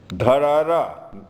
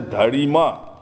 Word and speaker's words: Dharara: So you have Abhaypur here, Abhaynath Temple, Piri here, and 16 kilometers northeast is Dharara, which has been mispronounced by Tibetans as Dharima.